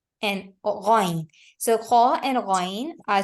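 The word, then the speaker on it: غ: They should be pronounced from the very upper part. And when we are pronouncing them from the upper part, we are going to feel the vibration over there.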